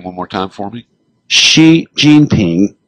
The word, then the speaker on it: Xi Jinping: I mean, and you lost me when you were describing the president of China, and pronounce his name one more time for me. Xi Jinping. Xi Jinping.